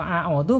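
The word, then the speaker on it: أعوذ: Makhraj alif dan ain harus dibedakan ya. A dulu baru masuk ke ain. A'udzu gitu ya. Nggak boleh a'udzu. Ya kalau a'udzu berarti ain dua-duanya ya.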